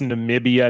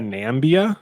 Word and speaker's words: Namibia: the joke that uh that Trump pronounced Namibia nambia yes that's right um